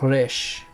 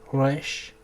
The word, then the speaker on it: Resh: La resh es un equivalente similar a la R española. Digo que es similar porque no se pronuncia como decir perro con una R muy marcada, sino más como una R un poco más suave, como Israel, como Resh. muy parecido a una R francesa o como la doble R puertorriqueña.